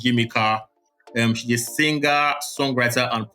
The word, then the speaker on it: Yimika: So our spotlight of the week this week is an artist called Yimika. She's a singer, songwriter, and producer. Yimika is spelled Yimeeka, and the name of the EP is called Alter Ego.